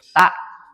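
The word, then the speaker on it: ت: Berarti ta lidahnya menempel pada gigi dari atas. T. Nah. Nah, bagaimana makhraj huruf ta? Lidah menempel pada ee belakang gigi seri atas.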